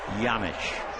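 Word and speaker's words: Janish: from texas as well that last name j-a-n-i-s-h they tell me it's a czechoslovakian name but he has no idea why the j is pronounced like a y yamiche last year he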